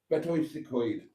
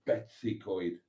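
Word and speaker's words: Betws-y-Coed: Betois Secoid. English people always pronounce it Betsycoid for some reason. It's not. It's Betois. Betois.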